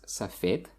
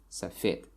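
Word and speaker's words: сафед: And the second one is safed, and the stress falls on ye, safed, which means white in English. So next one is Dushanbe.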